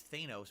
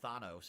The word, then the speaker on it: Thanos: it back then I thought his name was Thanos apparently it's pronounced Thanos and now we all know that but we